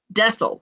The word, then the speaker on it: Dessel: Dessel Jax. Dessel.